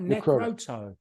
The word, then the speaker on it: Necroto: both closer than most it's actually really really simple neck row toe like you tell oh necrot necrot okay sorry about